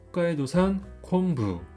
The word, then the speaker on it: 北海道産昆布: 홋카이도산 콘부.